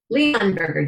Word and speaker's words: Leonberger: Leon Burger, just how it's pronounced.